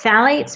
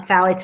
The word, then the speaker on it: phthalates: contain phades it's uh it's spelled right there p t h a l a t s so phalates make fragrances Linger Longer um